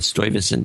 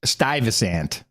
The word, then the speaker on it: Stuyvesant: in story even so what is probably pronounced that stoivison stoivison uh yes it wasn't in New Yorker says Stuyvesant Stuyvesant holy crap can I